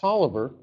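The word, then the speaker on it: Taliaferro: maiden name is uh pronounced toliver but it's spelled t-a-l-i-a-f-e-r-r-o it sounds pretty italian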